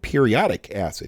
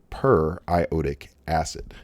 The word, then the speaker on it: periodic acid: look at that and you may think periodic that looks like that should just be periodic acid because it looks like the word periodic like we have in periodic table but this is properly pronounced per iotic acid per iota gas all